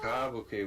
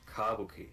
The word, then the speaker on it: kabuki: Kabuki with the emphasis on the first syllable. Kabuki.